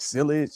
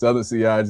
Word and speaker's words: sillage: So, it's like silage. It is what it is. No, it's seage is all good.